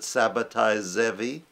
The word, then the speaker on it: Sabbatai Zevi: man from Turkey named Sabbatai Zvi, or some people pronounce it Sabbatai Zevi, claimed to be the